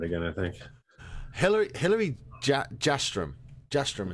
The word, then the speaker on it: Jastram: Jastram is how you say her last name.